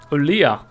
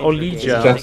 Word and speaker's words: Olija: Olia. That's how you say it. I was about to call it Olija.